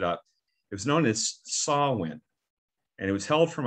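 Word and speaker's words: Samhain: i looked it up it was known as saul when and it was held from october 31st to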